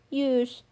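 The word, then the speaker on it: ewes: I think it's used. Yeah, it's used. Ah, I got it right.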